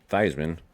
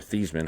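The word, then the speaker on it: Theismann: This is my uh old school Irish helmet that was signed by Joe Thyman or Thesman, however you want to say it. Uh obviously they changed his name to rhyme with Heisman.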